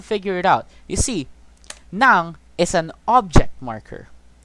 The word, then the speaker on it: ng: where you use nang here it's pronounced the same but if you you're not gonna get confused i'm just gonna say this you're not when you're talking to people you're not going to get confused because you're not going to see these words what you're going to hear is nang and depending on the